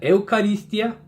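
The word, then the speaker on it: εὐχαριστία: significa acción de gracias este significado proviene de un vocablo griego que se escribe eucaristía se pronuncia eucarístia y ya latinizado es eucaristía ok entonces esto significa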